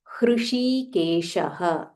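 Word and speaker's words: हृषीकेश: Aprameyo, Aprameyo, Hrshikesha. This is Hr, followed by Shi, Hrshi, Hrshikesha. So this is Murdanya Sha, and then there is Talavya Sha.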